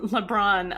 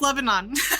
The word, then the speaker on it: Lebanon: over pronouncing that right LeBron um Pennsylvania did I say that town name correct too hello no it's Lebanon Lebanon it's not her fault